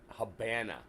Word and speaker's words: Havana: speaking countries including Cuba Havana was a Spanish word pronounced Habana it was pronounced Habana because the V sounds like a B in Spanish you're right it was